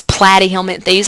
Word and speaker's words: Platyhelminthes: If we look at flatworms, their fancy name is Platyhelminthes. I always tell students, just remember plat rhymes with flat, right?